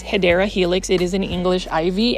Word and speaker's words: Hedera helix: The correct way to say it is Hedera Helix.